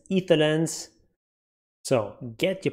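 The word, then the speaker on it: Aether Lens: It's not aetherlens, etherlens.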